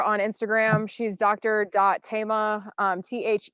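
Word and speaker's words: Thema: dot Tama th e ma it looks like SEMA but it's pronounced Tama like Tama Lyon and she's also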